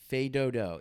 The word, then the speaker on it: Fais Dodo: Fais Dodo. It's French, okay? It's not It's face spelled doo-doo. it's spelled as Face Doodoo, but we're going to continue calling it Fais Dodo because that's what they prefer.